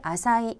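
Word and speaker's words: 浅い: 다음 으로 , " 얕은 " 을 뜻 하는 한자는 " 아사이 " 이며 , 이는 " 얕은 " 이라는 의미 입니다 .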